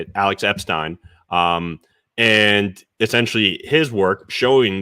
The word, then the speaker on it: Alex Epstein: Alex Epstein.